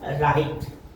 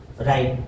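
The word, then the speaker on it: write: डब्ल्यू के बाद में आर आता है तो डब्लू साइलेंट होता है। डब्लू का उच्चारण नहीं होता। जैसे कि वहां पर राइट राइट देखो डब्ल्यू के बाद में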